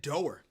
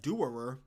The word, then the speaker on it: Doerer: They said Doer. His name looks like Doerer, but it says Doer. That doesn't make sense. It's like 2 ERs in there. How can a name with spelled D-O-E-R-E-R be pronounced Doer?